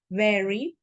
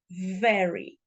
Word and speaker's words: very: V sound is important so I don't say very because that could be confused with the fruit I pronounce very this is very good